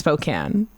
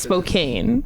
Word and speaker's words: Spokane: you would speak that it's Spokan with an E it's a long a so it's Spokane it's not English what